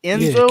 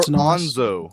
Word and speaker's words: Enzo: Well, so Enzo, is it Enzo or Onzo? It's Onzo. Dude, Nerdman has been steering me astray this whole time with Enzo. Sorry. Why did you spell it Enzo if it's Onzo? Because it's pronounced. It's pronounced Onzo. It's an African name. Silent E.